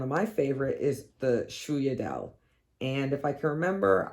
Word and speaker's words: sfogliatelle: my favorite is the sfogliatelle. And if I can remember, I will insert here how that is actually spelled. Obviously, we say it like it doesn't look the way on how you say it, but it's one of my favorites.